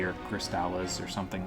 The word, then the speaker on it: Crystales: you just use, like, Crystalli or Crystallis or something like that. Crystales, that's how it's pronounced.